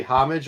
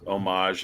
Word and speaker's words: homage: do you say you say homage or homage um either one is fine but it's it's homage and most of the